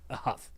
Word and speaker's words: Huff: Huff. Lincoln Huff. It rhymes with tough, Josh, but he's not.